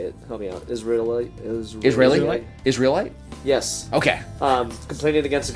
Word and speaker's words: Israelite: Israelite.